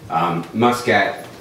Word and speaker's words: Muskat: uh it's often mispronounced Muscat is a somewhat common name in certain parts of the world but sounds like muskrat which is very easy